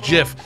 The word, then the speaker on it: GIF: came out was like it's pronounced jiff and it's just like